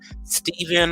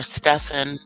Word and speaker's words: Stephen: from the UK's um Stephen or Stefan depending on how you want to say his name Woodshire um so take